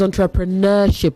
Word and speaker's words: entrepreneurship: And it is entrepreneurship, not neo. No, okay? Entrepreneurship.